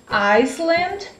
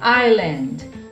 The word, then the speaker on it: island: Essa palavra também tem uma consoante que é muda e a gente não vai pronunciar, que é o S, tá? Então muita gente pronuncia o S, mas ele é mudo, ele não vai estar aí nessa palavra. Então quando as pessoas vão pronunciar, geralmente elas pronunciam Iceland ou Island, né? Mas na verdade você não vai pronunciar esse S aí. A pronúncia correta é Island, Island, Island, Island, ok?